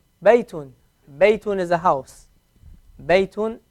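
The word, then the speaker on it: بَيْتٌ: A ya with a sukun is going to sound like what? Yi. Yi. So bay, bay, Baytun.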